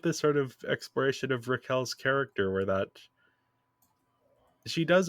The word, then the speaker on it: Raquel: Oh, this is where we get the It's Raquel. Roll those Rs.